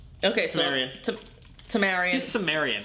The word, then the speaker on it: Tamarian: He's Tamanian. Okay, so... Tamarian.